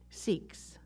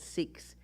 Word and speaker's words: Sikhs: you've probably heard of seeks yes yes the the spiritual tradition is called sikhism that is the correct way to say it and those who practice sikhism are called sikhs s-i-k-h-s in the book that